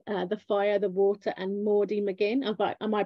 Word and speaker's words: Maudie McGinn: So, you've got a new book to talk about today, The Fire, The Water and Maudie McGinn. Am I pronouncing that right?